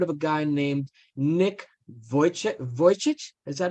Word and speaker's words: Vujicic: So, anyone here ever heard of a guy named Nick Vujicic? Is that how I pronounce it? I think it's Yep. Vujicic.